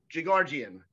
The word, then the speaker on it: Jigarjian: funny because he's an awesome comedian welcome gigardian did i say that right oh nail nailed the pronunciation all right but from now on we're